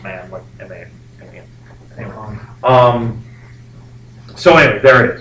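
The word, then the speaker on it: Mahan: man really important man it's m-a-h-a-n but it's pronounced man um so anyway there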